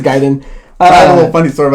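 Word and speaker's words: Gaiden: which was a ninja how do you pronounce it gayen or giden I say giden G I always said Ninja gayen even though I'm it is bet you is giden I a little funny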